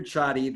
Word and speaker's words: Csathy: So my name is Csathy, that's the way it's pronounced.